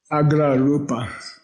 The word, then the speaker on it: Agra Rupa: Say A-G-R-A-R-U-P-A. Agra Rupa.